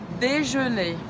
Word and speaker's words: déjeuner: Déjeuner. D, simples. D, je, também com biquinho francês, lembra? Boca do O fala E. Déjeuner. Não pronuncia o R no final. Vamos lá, vamos junto? Petit déjeuner.